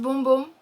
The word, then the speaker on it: Bum Bum: i've heard it pronounced bum bum and boom boom but they did say it is pronounced boom boom um but boom boom